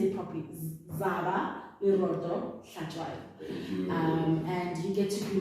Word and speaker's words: Hlatshwayo: Zaba, Leroto, Hlatshwayo.